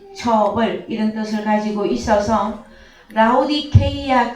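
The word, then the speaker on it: Λαοδίκεια: 라오디게아 한글 번역 그 원어는 무엇이냐 그러면은요, 라오디케이아 이것이 정확한 발음이 되어집니다. 라오디케이아 이 단어, 이 라오디케이아 이 교회는 소아시아의 한 장소이고, 그런데 이 라오디게아는요, 이게 단어가 두 개의 결합입니다.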